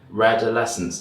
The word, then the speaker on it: Redolessence: My name's Aaron, welcome back to my channel, and I'm very happy that my first guest, apart from Chris, is Stephen from Redolessence.